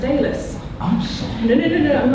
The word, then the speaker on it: Alys: Because actually my name's pronounced Alice.